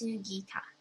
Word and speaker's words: Sugita: pronouncing all correctly but if I were speaking to I guess anybody on the phone I would just be like oh my name is you know sugita but if you want to pronounce it correctly then it's sugita and you know how